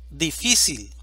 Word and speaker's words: difícil: a la vocal a difícil división silábica difícil sílaba tónica phi Esta es una palabra